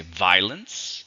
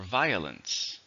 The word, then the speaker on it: violence: Once again, it could have 3 syllables or 2. You could say violence or violence. Both are okay. The news reported violence in the streets.